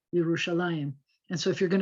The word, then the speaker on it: Yerushalayim: without an iem option it looks like it might have been yerushalam they spell it like this with that e dot under the mem because nobody pronounces it anyway other than yerushalayim and so if you're